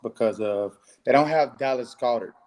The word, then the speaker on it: Goedert: they don't have Dallas Goedert. It's Dallas Goedert, right? That's how you pronounce it.